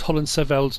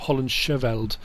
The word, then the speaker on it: Hollandscheveld: Sandor messaged and said the CH in HOLLANDSCHEVELD is silent. So it's HOLLANDSCHEVELD, not HOLLANDSCHEVELD. So thank you for that.